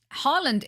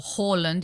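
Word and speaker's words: Haaland: no one's you know harland is not or horland if you pronounce it correctly is not a given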